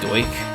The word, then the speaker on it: Deutsch: It's pronounced Doik, actually. Sorry.